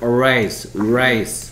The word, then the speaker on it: race: 자, 이것도 레이스고 그 다음에 이 친구도 뭐 레이스니까 비슷하게 보일 수도 있는데 전혀 달라. 얘는 lace. 그렇지. 그 다음에 얘는 race. 소리가 달라요.